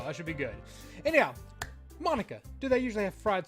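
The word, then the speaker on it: Monika: I think it's Monica. Because she just said it Mon-Ica.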